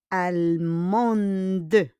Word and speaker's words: allemand: On prononce pas le D, hein? We don't pronounce le D really, hein?